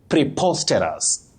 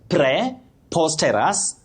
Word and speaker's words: preposterous: But you say preposterous. Preposterous. Not preposterous. Preposterous.